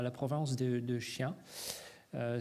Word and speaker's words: Xi'an: Donc aujourd'hui, si vous allez à la province de Xi'an, ça s'écrit Xi'an, ok, pour Xi'an, ok, voilà, Xi'an.